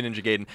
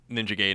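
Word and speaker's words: Ninja Gaiden: Ninja gayen right there I always say it like that I I said it like that until I saw the guy going ninja gayen in the Wizard and then I was like I'm saying it wrong wrong my whole life mean that was that was the first indication that I was saying it wrong but it's just that's it's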